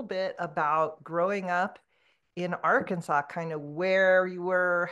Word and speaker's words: Arkansas: for some people who don't know it is pronounced Arkansas not Aransas which is very close to us